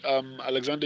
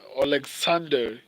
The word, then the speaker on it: Oleksandr: And in terms of finishing abilities as well, Tyson Fury has around 70% finishing rate, whereas Alexander Usyk, Oleksandr Usyk. I wanted to pronounce his name properly.